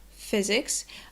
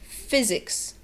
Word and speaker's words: physics: other one is that the y sound is not a yes sound but it's like a shortened i sound and the third thing is that the s is pronounced like a z so put it all